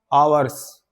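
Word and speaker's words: hour: एच जो हमारा कई इंग्लिश में साइलेंट होते हैं ना, तो एच साइलेंट है, तो वैसे क्या इसकी हिंदी में जो साउंड आएगी, क्या आएगी, आवर्स, आवर, ठीक है, ए की साउंड आ रही है, ठीक है, आवर्स,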